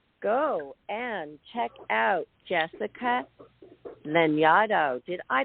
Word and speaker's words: Lanyadoo: you and everybody go and check out Jessica lenado did I pronounce it correctly you did it you did